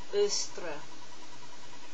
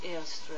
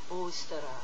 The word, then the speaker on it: Ôstara: The Anglo-Saxon heathens worshipped a goddess named Ôstara. I used to think that the best way to pronounce her name was Eostre, but I've changed my mind.